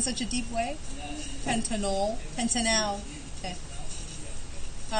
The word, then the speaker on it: pentanal: It's an aldehyde, so this is pentan al. Al. Okay. Be careful how you pronounce that, because the way you said it, Lucas, it sounded like that was an O.